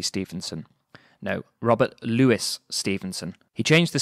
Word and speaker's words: Louis: name wrong or at least I am is pronounced Brenda Louis Stevenson no Robert Louis Stevenson he changed the spelling to ello you